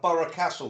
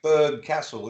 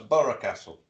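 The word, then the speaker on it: Burgh Castle: Well, we got Borough Castle round here, which is spelt B-U-R-G-H, but it's pronounced Borough. Yeah, you have as well, Micky. I know that caught me out. A lot of people say Berg Castle. It's not. It's Borough Castle.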